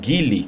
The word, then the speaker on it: Geely: Vamos lembrar que a smart hoje, ela é 50% da Mercedes e 50% da Geely, ou Geely, como eles falam, né?